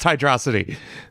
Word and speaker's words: Hydrocity: Megamind whenever he says hydrocity I know it's pronounced hydrosity about half of the Sonic fandom agrees with